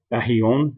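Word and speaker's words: aion: the Greek of 165 Eon um Aon as as the pronunciation shows it should be said there um anyway it's uh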